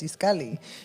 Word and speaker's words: Itzcalli: you know you're like no my name is iskali you know and that's it you know and